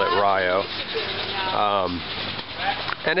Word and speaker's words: Rio: uh Meson FL and I'm in Rio Florida it's spelled Rio but they call it Rio um and it's kind of a standard size